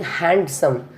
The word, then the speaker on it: handsome: In the same case, I am not saying handsome. It is a handsome.